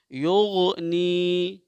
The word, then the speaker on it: یغنی: تق و۔ آگے دیکھیے یغنی، یغنی، کوئی قلقلہ نہیں ہوگا چونکہ 5 حرفوں میں سے کوئی نہیں ہے، یہاں یا مدہ ہوگا۔ یغنی، نشرت، نشرت، نشرت،